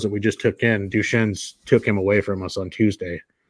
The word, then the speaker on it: Duchenne: It's nothing like, until you told me about Duchenne's. Am I saying it right? It is Duchenne's, right?